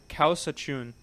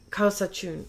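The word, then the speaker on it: Kawsachun: Can you pronounce it for me again? Yeah. Kausachun. Kausachun.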